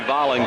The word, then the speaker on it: Volling: V-O-L-L-I-N-G, Volling with the ball. You've heard him name pronounced 2 different ways. We were told Volling.